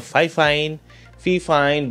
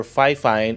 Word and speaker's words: Fifine: So yung iba ang tawag nila dito Fifine, but per Fifine, ang tamang pronunciation daw ng kanilang company is Fifine.